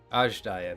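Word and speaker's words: Azdaja: Ajdaya, that's how it's pronounced.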